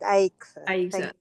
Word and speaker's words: Aixa: Aixa, you can tell me how to pronounce that. Yes, correct. Aixa.